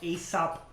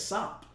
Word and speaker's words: Aesop: Oh yeah, so apparently there's a rapper called Aesop Rock. Why do you keep saying it's Sop? Because it's literally how it's spelled. AESOP.